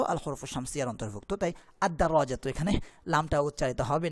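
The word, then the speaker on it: الدراجة: দেখুন সাইকুল কিতারি, এখানে আলিফ লামটা উচ্চারণ করছি, সাইকুল কিতারি, আল কিতারু, আল কিতারু কিন্তু আদ-দারাজাতু, আল কিতারু আর আদ-দারাজাতু, আদ-দারাজাতুতে এই আলিফ লামটা উচ্চারিত হচ্ছে না, লামটা উচ্চারিত হচ্ছে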